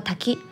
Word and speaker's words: 滝: 龙读作 taki，在日语中是瀑布的意思。